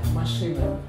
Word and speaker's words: машина: Машина. What's the word for car? Машина.